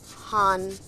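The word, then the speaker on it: 半: your screens this is written hun it is pronounced as Han and Han means half actually half now half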